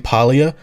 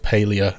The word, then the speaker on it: Palia: Switch announcement was made, I heard it was actually pronounced Palia, and it blew my mind. I have to get used to calling it Palia.